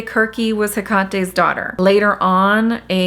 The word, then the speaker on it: Kirke: A lot of people pronounce her name Circe. I think the proper pronunciation is technically Kirke, but I'm gonna say Kirke.